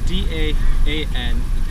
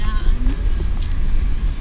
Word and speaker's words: Daan: It's D-A-A-N, and there's different tones when you pronounce it in Chinese.